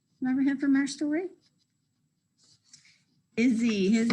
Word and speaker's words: Izzy: Izzy. His name is Izzy. Izzy starts with a short I, and it's the beginning of his name, so we're going to use the uppercase I.